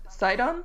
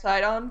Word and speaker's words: Sidon: Like one of the most popular ones I saw was I think it's pronounced Sidon. Okay. Prince Sidon from Breath of the Wild.